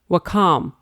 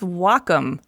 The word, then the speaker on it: Wacom: no wait Wacom No well calm no its Wacom pronounced wah like the Japanese word for harmony and come for computer the Wacom Cintiq 16